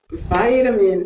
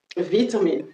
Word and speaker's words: vitamin: On dit vitamin C. Vitamin C. Ça, c'est les Américains qui disent ça. Il est possible de le dire d'une autre façon. La prononciation british. On dit quoi? Vitamine, vitamine C, vitamine, vitamine, vitamine C, vitamin C.